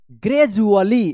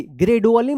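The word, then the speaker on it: gradually: आई टी Y visibility ग्रेजुअली ग्रेजडुअली मत पढ़िएगा यहां पे डी यू का जी उच्चारण होता है ग्रेजु ज उच्चारण होता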